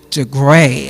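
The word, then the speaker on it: DeGruy: by Dr Joy de de gray I think is how her name is pronounced d e g r u y and we'll add this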